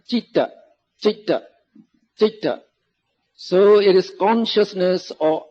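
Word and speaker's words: citta: first one is jeter so in bali i now pronounce e so when you put the t there speak on cheat no cheetah so it is consciousness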